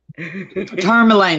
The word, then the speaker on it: turmeric: to pronounce it correctly turmeric like tournament do you have to